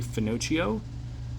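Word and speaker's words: Finochio: This is former wrestler Trinity, whose real name is Stephanie Finocio. I saw an interview where they said that's how it's pronounced.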